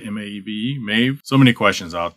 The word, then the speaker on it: Maeve: Say it right, M-A-E-V-E, Maeve.